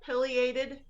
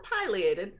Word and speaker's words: pileated: was was that was a juvenile pileated or pileated both are pretty correct pronunciations he was on our